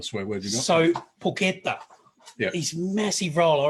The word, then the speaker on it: porchetta: And I say porchetta. Looks amazing, porchetta. You say porchetta. So it's spelled porchetta, but it's pronounced porchetta. Apparently.